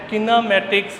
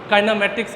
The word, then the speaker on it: kinematics: Unit number 2 हमारे पास है किनेमैटिक्स, या इसकी प्रोनाउंसिएशन हम काइनेमैटिक्स के तौर पे भी करते हैं।